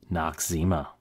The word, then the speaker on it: Noxzema: The origin of the name is not entirely obvious until you try breaking it into smaller bits. No, eczema, no eczema, or as we normally pronounce it, Noxzema.